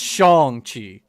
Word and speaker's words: Shang-Chi: Shang-Chi, Shang-Chung, Shang-Chun, Found out it's General Tsao, I found out it's pronounced Shang-Chi.